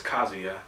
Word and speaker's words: Kazuya: We used to always say Kazuya or Kazuya back in the days. We didn't know how to pronounce it. It's Kazuya. Kazuya.